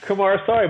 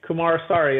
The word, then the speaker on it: Kumarasamy: would find me absolutely kamara sorry but that's actually not so hard if you actually just just slow down and just say it right kumar sorry that's a that's a